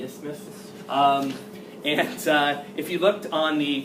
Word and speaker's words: isthmus: You almost have to say it like you have a lisp, the isthmus.